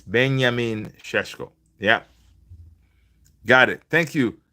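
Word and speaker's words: Benjamin: So I watched Shesho interview recently. It's actually pronounced beyamin. Yeah. Been benyamin sheeshko just like you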